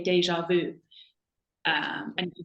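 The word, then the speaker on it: déjà vu: say it more frenchly uh with the French pronunciation um so in English we say deja vu um and you can say that to a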